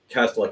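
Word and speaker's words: Kastelic: And how do I pronounce that? Kastelik? Kastelik, yeah, Marc Kastelik.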